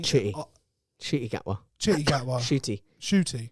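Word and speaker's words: Ncuti: gwa chitty gwa shoy shooty that's the best way to pronounce it shoot e shoot e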